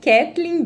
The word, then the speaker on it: Kathleen: É Kathleen exatamente como se fala, né? Kathleen, bem o português, ..